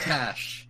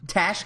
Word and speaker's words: Tash: It's Tash Tash. It's due to go. It's the way Australians and English pronounce a It's weird.